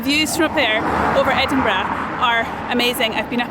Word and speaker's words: Edinburgh: Edinburgh, like that, right?